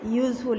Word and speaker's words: useful: USEFUL यूज़फुल, यहाँ पर भी जो एस है उसकी साउंड किसकी आई है, जै की आई है, ठीक है।